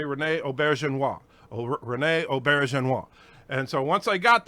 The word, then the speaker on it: René Auberjonois: Hi, this is René Auberjonois. Okay, so then I just stopped and I would like repeat that. This is René Auberjonois. And over and over so I could say René Auberjonois. René Auberjonois.